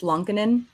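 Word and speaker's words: Lankinen: way just for housekeeping it's lankanen just for you know yeah the world he said it himself on the blackhawks pronunciation guide online and everybody says it wrong and it drives me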